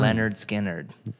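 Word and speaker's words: Lynyrd Skynyrd: It's pronounced It was a different time. Leonard Skinner.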